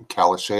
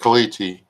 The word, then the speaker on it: caliche: clay and silt there you you get Kelly Kelly Shay I almost did it that's part of a joke that's not how you say it if you take caliche like I said and grind it up get